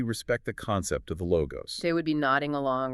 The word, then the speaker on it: Logos: John introduces the logo, pronounced Logos.